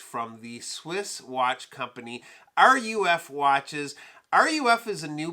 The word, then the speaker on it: RUF: So when I was first introduced to the brand, I was calling them RUF Watches. It's actually RUF Watches, and excuse my pronunciation, but that's short for Royce Urn Fabric.